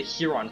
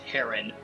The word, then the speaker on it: Heron: Leron was one of the Huron clan, an ancestor of our Prince Racin. Okay, I've been told recently it's pronounced Heron, so I'm so sorry to people who I've